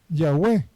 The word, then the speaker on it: Yahweh: La forma correcta es Ya, YH, la cual es la forma bilítera, abreviada del nombre de Yahweh. Y-A-U-E, Yahweh, Yahweh.